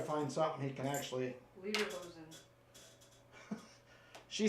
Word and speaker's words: Lederhosen: It's Legerhosen. No. Yes. Oh, he says. Oh, man. Lederhosen.